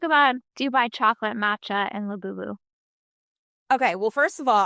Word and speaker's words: Labubu: And I was like, Labooboo. And she was like, no, Mom, Labubu.